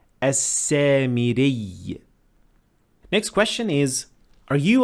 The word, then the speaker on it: السامري: So you pronounce it basically as a doubled ya, and you would say as-samiri.